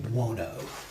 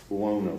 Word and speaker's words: Buono: Uh Dwayne Buono. Buono.